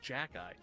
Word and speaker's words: Zakelj: Actually, it's pronounced Jack-Eye.